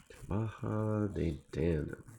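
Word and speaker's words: Tuatha Dé Danann: Okay, so Pete says Tuatha De Danann. Okay. I like it. Tuatha De Danann. I will attempt to remember that and do that pronunciation going forward.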